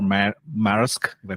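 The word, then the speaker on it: Maersk: have you heard of this company called Mar marisk if I pronounce it correctly marisk m a e r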